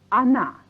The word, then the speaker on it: она: Or na, pronounced она.